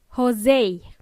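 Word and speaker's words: José: something else to note if your name is Jose the English speakers would say it as Jose because it's hard for them to pronounce that e at the end of the word mhm now let's not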